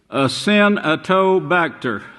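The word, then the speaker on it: Acinetobacter: bacteria in US hospitals called get this name ass in a toe bacter now that's the way you pronounce it but you pronounce it bastard ass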